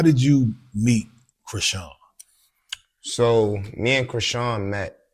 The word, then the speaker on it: Chrisean: I know you from the whole Chrisean. That's how you pronounce it.